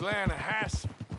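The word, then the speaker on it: Lannahechee: runs right near here yeah this pronounced Lana Hass why is everything in English said it differently than it's written make us feel stupid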